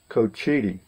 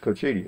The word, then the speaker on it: Cochiti: go though don't worry preed a fog it's pronounced Cochiti that is it's pronounced Cochiti another interesting Golf Course in this community it